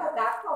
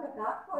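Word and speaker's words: صدقة: kabeh sendiri aku ngomong bilang sodqah bukan sodqoh itu sodqoh sodqah karena sebagai rasa terima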